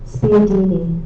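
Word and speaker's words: spiedini: Are there any alternate pronunciations? No. Math the word again. Spadini.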